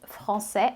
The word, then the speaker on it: français: Quando a gente diz français, a gente não pronuncia o S.